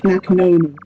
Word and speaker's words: nekhnona: You pronounce it like nekhnona. It's really easy.